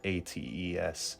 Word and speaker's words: Echecrates: Echecrates. So Crates, like Socrates, and then Echecrates, whatever.